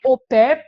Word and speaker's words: au pair: que se escreve oper porque é uma palavra francesa escreve a Pair Mas claro que a gente fala oper todo mundo conhece aqui